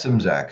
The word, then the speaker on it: Szymczak: name Mike how does that how does that simsack it just rolls off the tongue nice Mike